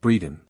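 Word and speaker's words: Bredon: you I will come one pronounced Breeden xxi the street sounds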